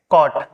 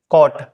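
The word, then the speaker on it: caught: ओ का निकलेगा जैसे इसको बोलेंगे कॉट कोट क्या बोलेंगे कॉट ठीक है ऐसे फ्रड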